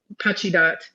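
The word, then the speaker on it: Pacheedaht: people who are saying, Pachidat is actually how it's pronounced, I'm mispronouncing that.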